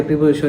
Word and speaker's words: preposition: করার চেষ্টা করুন, যাতে প্রিপোজিশন নিয়ে আর কোনো সমস্যায় পড়তে না হয়। তো চলুন ভিডিওটি শুরু করা যাক। আজকের আলোচনার বিষয় বুঝতেই পারছেন, প্রিপোজিশন। প্রি উচ্চারণ হচ্ছে আসলে প্রেপোজিশন।